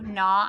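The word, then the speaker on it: gnaw: doesn't really sound right let's make it so the g is silent n I've heard naw before I like to naw on a pencil when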